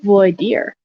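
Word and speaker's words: voir dire: to check out Brendan's um boy Dyer dire yeah um am I saying it right here I was saying it wrong boy dear all right so anyway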